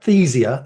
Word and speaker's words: Athyzia: um you book the Council of Council of aesia that's that's pronounce right is it good I got that